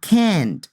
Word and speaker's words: can't: can't speak three languages notice that I make some stress in the n and T sound and it's longer he can't speak three languages now